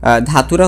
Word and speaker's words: Datura: ধাতুরা হচ্ছে US pronunciation অনুযায়ী এবং ধুতুরা হচ্ছে ইউকে প্রোনাউন্সিয়েশন অনুযায়ী।